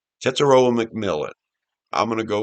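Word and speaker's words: Tetairoa: I believe you say his name, Teteroa. Teteroa McMillan.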